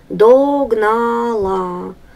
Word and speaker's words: догнала: ударение на первый слог догнала ударение на третий слог ключ от ударение на